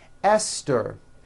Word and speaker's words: Esther: Although these next words and names are spelled with a TH, they are pronounced as if they were spelled with a normal T, like that.